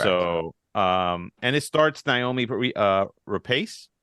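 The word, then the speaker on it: Noomi Rapace: So, and it starts Naomi Rapace. Is how you say her name.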